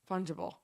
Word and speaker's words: fungible: is how it works oh a soft g fun yeah it's not like fungus so fudge fungible fungible this is this is